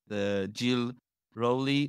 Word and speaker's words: Jill Rowley: Welcome to another episode with Jill Rowley. Did I pronounce it well?